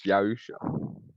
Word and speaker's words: Yahusha: No, I'm saying you're saying it a little bit wrong. It's Yahusha.